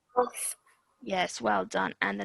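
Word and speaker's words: ق: Yeah, so this is a thick sounding letter. So really round your mouth. Qaf. Qaf.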